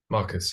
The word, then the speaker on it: Marcus: warm welcome to Marcus is that the right pronunciation of your name Mark Marcus Marcus yeah okay yeah warm welcome and thanks for